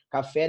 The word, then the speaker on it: café: Café é oxítona. Perfeito? Café. A força é na última sílaba.